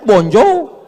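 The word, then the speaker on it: bonjour: Tulisannya bonur. Bacanya bonjou. Bon sair, bonsa.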